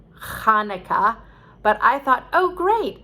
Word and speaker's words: Chanukah: chanukah or that is hanukkah spelled with a ch meaning that uh it's supposed to be more guttural like chanukah but i thought oh